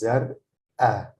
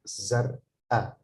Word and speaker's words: زرقاء: And then the feminine form is zar'a, zar'a. There is like a pause, like zar'a, zar'a.